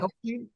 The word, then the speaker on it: Helfstein: Scott, I want to get your pronunciation right. Helfstein, is that right? Right. Helfstein. He's with Global X.